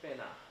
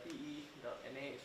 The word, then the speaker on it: Pena: linguistic idea or anything so that is how we pronounce penna the p e n a so you can just say pena not banana so it belongs to